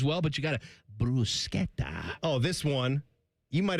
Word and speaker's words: bruschetta: No, it's not bruschetta. It's not? It's bruschetta. Oh. You say it like the Italians. I'm sorry. Bruschetta. Bruschetta. Bruschetta. Not bruschetta. You got to, I don't know. I've always gone with the SH I understand sound. most people do, and I'm more comfortable